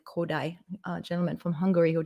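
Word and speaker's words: Kodály: indian rhythm system uh kodai i'll spell that too because that is not spelled how it sounds gold valley is how it's spelled but said kodai a gentleman from hungary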